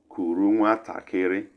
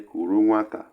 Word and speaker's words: kuru nwatakịrị: Kuru nwatakịrị. Some will say kuru nwata for short, but the full pronunciation is kuru nwatakịrị, which means carry a child or carry child.